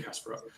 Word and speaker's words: Kasparov: beat we're cruising um beat Gary is it Kasparov am I saying it right beat Gary Kasparov yeah so concept here beat Gary Kasparov basically